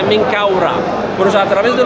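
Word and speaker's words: Menkaure: Kura, también aquí se ve, eso es la letra Men, las las los brazos alados aquí o están ah abiertas, eso se se pronuncia en Kau. El disco solar Ra al final, por eso se pronuncia Menkaura.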